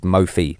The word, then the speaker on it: Mophie: in mphi cases yeah cuz I didn't know that until right now that it was called Mofi yeah we've been throwing